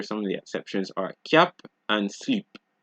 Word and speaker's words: cap: you see in French, you generally don't pronounce D's, P's, S's, T's, or X's. However, there are a few exceptions, just a few, such as sud, cap, slip, fils, bus, brut, ouest, huit.